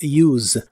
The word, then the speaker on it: use: El verbo usar en el presente de inglés es use. La pronunciación normalmente termina con el sonido vibrante de la s, que es como se suele pronunciar la Z en inglés. Use. Us.